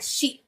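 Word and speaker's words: 四: Number 4 जो होता है उसका जापानीज लैंग्वेज में प्रोनाउंसिएशन होता है शी, जिसका उस लैंग्वेज में मतलब होता है डेथ।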